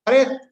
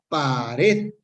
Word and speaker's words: pared: Pa-red. Es la palabra, dividimos en sílabas, pa-red. Sí. Polisílaba y tiene el acento en la última sílaba, sin embargo, esta esta palabra nos, no se acentúa o no lleva tilde.